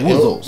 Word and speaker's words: Wuzzles: Como é que é a pronúncia? Wuzzles.